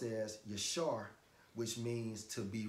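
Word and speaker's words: יָשָׁר: It's pronounced as yashar, which means to be right, to be straight, all right?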